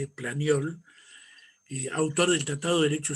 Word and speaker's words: Planiol: En el año 1921, uno de los más grandes juristas franceses, Planiol, se escribe Planiol, Planiol, autor del Tratado de Derecho Civil junto con